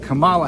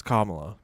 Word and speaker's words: Kamala: It seems that he and Camala Harris called anyone. He and Camala Harris, it's Kamala, by the way. That's just another example of racist old white men not knowing how to pronounce names.